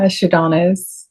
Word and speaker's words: Shadonis: switch gears and this episode we have astrologer sadonis that's how you pronounce it right yeah sadonis you so much for having me yes thank